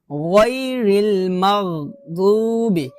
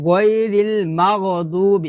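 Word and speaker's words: غير المغضوب: তো আমরা এখানে কলকলা করে ফেলি, মানে গায়রিল মাগদুবি এভাবে বলি, মাগো বলা যাবে না, বলতে হবে মাগ। মিম গয়ন জবর মাগ মাগ মাগ, গ উচ্চারণটা আসবে না, মাগ এভাবে।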